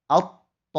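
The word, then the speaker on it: الطَّامَّة: Cara membacanya adalah at-tammatu. At-to. Alif lamnya tidak dibaca.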